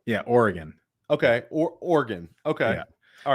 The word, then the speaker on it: Oregon: How am I supposed to say Oregon, Billy? Oregon. Yeah, Oregon. Oregon, like the organs in my body. Yeah, Oregon. Okay, Oregon.